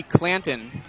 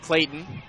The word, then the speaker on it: Clanton: Cody Clanton, not Clayton.